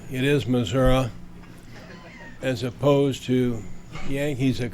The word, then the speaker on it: Missouri: I first have to compliment you on pronouncing the name of my state correctly. It is Missouri, as opposed to Yankees that call it Missouri.